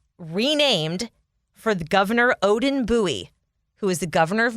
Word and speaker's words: Bowie: fun fact i like bowie i love the name it's just like buoy you know nice single syllable boom there it is you know people aren't from here if they say bowie bowie maryland yes yeah oh